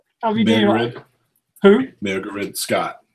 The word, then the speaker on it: Mairghread: Mairghread. Who? Mairghread Scott. Mairghread Scott.